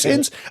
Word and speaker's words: Innes: It is Innes. I did it right the first time and doubted myself. Fuck. That's Innes.